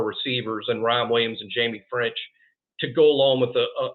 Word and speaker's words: Ffrench: the way it is it is pronounced Jamie French I'm surprised a lot